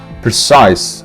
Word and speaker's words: precise: Precise, stress on size, precise, precise.